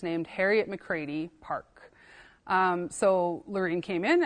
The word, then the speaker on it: McCready: And Harriet McCready, or McCready, it depends on who you ask. The Métis names can get a little tricky with pronunciation, but it is an Irish last name, so McCready.